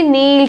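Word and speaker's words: kneel: इसको ध्यान से देखिए नील के साइलेंट है इसमें नील बोलेंगे याद करना लर्न जो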